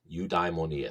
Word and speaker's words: eudaimonia: um in the Greek is a word um you diemonia eudaimonia so if we were to spell that out in English letters it would be